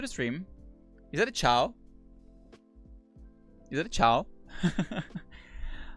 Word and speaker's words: ciao: electus welcome to the stream is that a chow is it a chow how are you doing